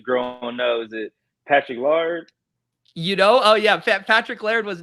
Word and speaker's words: Laird: How you say his name? Lard. Oh, Patrick Laird. Laird. Yeah. There you go.